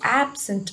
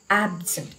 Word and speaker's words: absent: noun if you say if you use absent as a noun it must be absent but if it is a verb it is absent because the syllable for sorry the stress falls on the second syllable look at this word